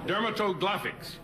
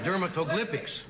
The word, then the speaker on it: dermatoglyphics: got it okay let's get something going here dermatographics what what is that dermatologics dermatographics dermatoglyphics dermatoglyphics dermatoglyphics he said well that's not fair